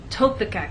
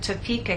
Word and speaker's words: Topeka: For example, if you tell any American that you have friends in Topeka, Kansas, they're going to look at you and ask, what country is that in? What continent is that on? But if you move the stress to the correct place and try again, tell the Americans that you have friends in Topeka, Kansas, now they'll understand.